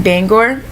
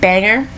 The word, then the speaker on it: Bangor: like 45 minutes from Bangor and a lot of people who are not from the main from the state call it banger but it's not it's Bangor it's b-a-n-g-o-r Bangor and so uh a